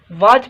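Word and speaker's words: watch: जो मतलब आए कर्नल छह नंबर वर्ड आए वाच वाच ठीक सोहते टी खामोश आए वाच पढ़बो ठीक वाच जो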